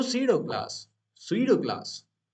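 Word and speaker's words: pseudo: इसको काफी लोग इसको प्रोसीड क्लास भी कहते हैं लेकिन ये गलत होता है गलत क्यों होता है क्योंकि इसमें जो पी होता है ना वो साइलेंट होता है तो हम लोग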